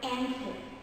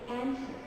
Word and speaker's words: answer: W is silent in the word like answer. And it's replaced by a very soft T. So I say answer.